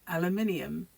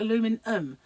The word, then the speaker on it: aluminium: differently isn't it Tunisian aluminium you miss that whole iron aluminium you call it aluminum but there's an i there so it's Al aluminium really isn't it but